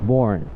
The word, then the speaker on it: Voren: And we got Voren. All right. Did I say the last name right? Voren. Voren. Voren. Yes.